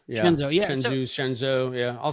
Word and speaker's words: Shenzhou: Shenzo, yeah. Shenzhou, yeah.